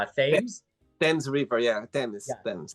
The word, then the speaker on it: Thames: It's Thames.